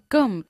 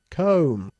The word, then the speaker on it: comb: Come. ¿Y cómo se debería pronunciar? Comb. Comb.